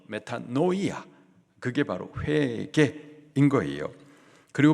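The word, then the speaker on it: μετάνοια: 회계의 헬라식 발음이 메타노이아 뜻은 마음을 돌이키는 것을 말합니다. 세상을 향하였던 그 마음을 하나님께로 하나님으로부터 멀어졌었던 그 마음을 말씀으로 그 마음을 돌이키는 거 메타노이아 그게 바로 회개인 거예요.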